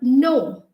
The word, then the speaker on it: know: example um when you look at the word no k-n-o-w no okay no no and k-n-o-w no they both sound the same but we never say canal so k over here is a silent letter so k n o